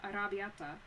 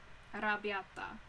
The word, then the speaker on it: arrabbiata: a pretty good penne arrabbiata. I can only pronounce that like the American non-Italian way, which is kind of funny. Like, because I am Italian. So, arrabbiata.